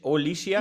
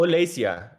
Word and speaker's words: Olesia: Is your name Alicia? No. My name is Alesia. It's Russian name, so I don't know how to pronounce it in English correctly. No, Olesia. Is that right? Olesia, yes, Olesia. correct.